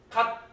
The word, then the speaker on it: 갓: 여러분, 이게 만약 시옷으로 발음되면 어떻게 발음해야 돼요? 영어의 S처럼. 그죠? 가스. 이렇게 발음해야죠. 예, 근데 여러분 gas를 쓰지 않잖아요. 그죠? gat을 쓰죠. 자, 그러면 이때 gat이라고 하면 시옷이 뭘로 바뀌어서 소리 난다고 봐야 돼요? 디귿으로 바뀌어서 소리 나는 겁니다.